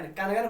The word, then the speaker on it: कंगन: जैसे कंगन में बोले, आप लोग बोले तो कंगन, कनगन बोलते हैं, कनगन, कनगन नहीं ना बोलते हैं,